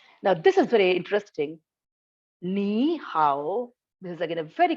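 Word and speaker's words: 你好: Ni hao, this is again a very common example.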